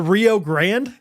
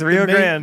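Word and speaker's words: Rio Grande: fist everything in Texas is pronounced wrong the Rio Grand yeah that's crazy yeah the the that's Rio Grand the river in Waco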